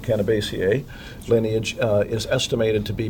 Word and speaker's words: Cannabaceae: comes from, the Cannabaceae, I don't know if you know how to pronounce that word, I always pronounce it Cannabaceae, lineage is estimated to be between 30 and 90 million years old on this planet.